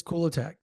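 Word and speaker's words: Kulatak: stop stop stop trying to get the correct pronunciation in my head Brandon attack attack it is it is cool attack that's the way it is it is what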